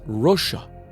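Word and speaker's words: Russu: The word meaning red and fiery in Sumerian is Rusha, R-U-S-S-U, which is phonetically the same as Russia.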